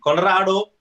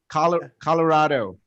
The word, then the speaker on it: Colorado: Because you have to roll your R's. If you don't roll the R in Colorado. Okay, let's try doing it. Colorado.